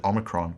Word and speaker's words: omicron: In that way, it is distinct from the other O sound in the Greek alphabet, omicron, which is a short O, O. In the modern pronunciation, however, omega and omicron sound virtually the same. It's a short O sound, O, not O, O.